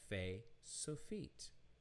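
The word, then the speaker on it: ף: So we have pe or fe, and then we have fe sofit, fe sofit.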